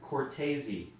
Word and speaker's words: Cortese: locusts the eighth plague his name is dan cortezi dan cortezi sure it's not dan cortez from mtv that's him but it's spelled cortese c-o-r-t-e-s-e are my pictures